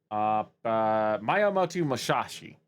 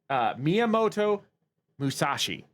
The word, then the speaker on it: Miyamoto Musashi: Miyamoto Musashi. Excuse me. I know I butchered that name. Miyamoto Musashi.